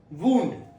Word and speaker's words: wound: Wound. Example, the wound needed several stitches. The wound needed several stitches. Second one, wound. Wound. Rhymes with owned.